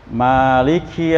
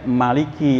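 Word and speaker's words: مَالِكِ: Maliki yaumiddin. Apa artinya? Penguasa di hari pembalasan. Kalau kita bacanya panjang, Maliki. Tapi kalau bacanya pendek, Maliki yaumiddin. Boleh ya Pak? Maliki. Ya, pendek.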